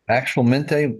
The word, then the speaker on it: actualmente: Actual mente was what again? Currently, Currently. and we pronounce it actual.